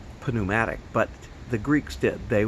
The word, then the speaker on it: pneumatic: When we talk about pneumatic tires, we don't pronounce the P like we do in most Greek-derived words that start with a P.